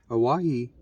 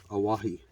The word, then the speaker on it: Owyhee: Owyhee was the original pronunciation of Hawaii before Hawaii became a territory of the United States of America.